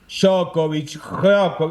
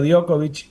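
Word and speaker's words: Djokovic: tipo de apellidos eh la J se pronuncia como una i. I ahí está. Perfecto. Y ahí solucionamos mucha cosa. Yo antes le decía Jokovic y ahora le digo Diokovic.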